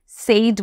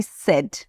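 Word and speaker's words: said: well সেড well সেড সেড উচ্চারণটা একটু দেখবে আমি কিন্তু সেইড বলিনি আমি বলেছি সেড নেক্সট তুমি জিতেছো ইউ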